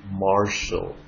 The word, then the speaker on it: Martial: خدوا بالكم نطقها TIA. Martial.